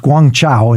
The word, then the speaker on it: Guangzhou: get a train up to Canton which is pronounced Guangzhou in in Chinese I thought I could just walk up to the counter and hand him some money and say Guangzhou and get on the train and all would